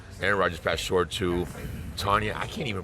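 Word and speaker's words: Tonyan: Aaron Rodgers passed short to Tanya. I can't even pronounce the names of the freaking Green Bay Packers. You know. How do you pronounce that? Tanyan.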